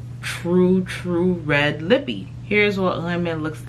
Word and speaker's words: renmen: I mean, obviously, for those of you that are not of Haitian descent, you're not gonna know how to say it the proper way. But it is called Renmen.